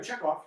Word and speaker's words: Chekhov: Utah yeah in English the great composer we call Tchaikovsky and we spell it TCH and the great writer check off we sell CH but in Russian is the same sound that's because Chekhov came